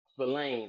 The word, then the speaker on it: Spillane: Spillane, like Spillane. spill. Yeah, Spillane.